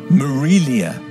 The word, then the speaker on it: Melia: pronounce her name and she explained it was said Melia with more of an M sound than an a sound at the beginning that was that was